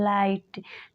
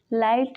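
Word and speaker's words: light: रहता है for example लाइट लाइट में जी एच साइलेंट है वैसे ही थाई थॉट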